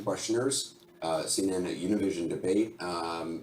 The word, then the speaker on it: Univision: Say it right. It's Univision.